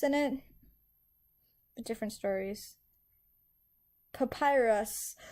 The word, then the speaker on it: Papyrus: it but different stories papyrus papyrus oh okay i was close i said papirus i don't know i didn't know how to pronounce it you guys were